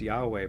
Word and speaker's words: Yahweh: So the YHWH, which is how it is in Hebrew, it is vocalized Yahweh, but most religious Jews